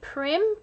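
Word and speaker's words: Prym: So popped onto the Amazon website and I bought the, I think you pronounce it Prim, P-R-Y-M.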